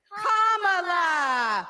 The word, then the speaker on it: Kamala: First, you say comma like a comma in a sentence. Then you say la like la la la la la. Put it together, and it's 1, 2, 3, Kamala.